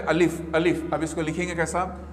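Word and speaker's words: الف: अब पहला जो वर्ड है वो है अलिफ। अब इसका प्रोनाउंसिएशन होगा स्टूडेंट्स अलिफ, और याद रखिए उर्दू,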